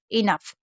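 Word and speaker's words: enough: तो कुछ ऐसी वर्ड मीनिंग होती है जिसमें जी एच को फा पढ़ा जाता है, जैसे कॉफ, इनफ।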